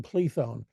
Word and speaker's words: Plethon: accusing um and and I'll call him plethon he adopted that which is uh the Byzantine pronunciation of his name um he adopted that